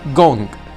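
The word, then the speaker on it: 工: For example, the half which looks like capital I is called gong, and the one which have three dashes or dots on the left pronounced as shui.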